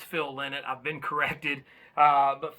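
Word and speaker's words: Phil Lynott: a while back on thin lizzie where i butchered his name uh but it's phil lynette i've been corrected uh but phil in it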